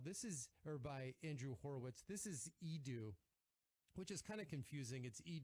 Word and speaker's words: Edu: It's EDU. I know you're thinking college, but you're wrong. It's just how Andrew pronounced his name when he was a little kid and couldn't say Andrew.